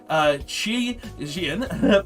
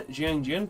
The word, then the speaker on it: Xiangjian: We also play 3 Xiangjian because, well, Chi Zhao, The X is pronounced as Z because of English, right?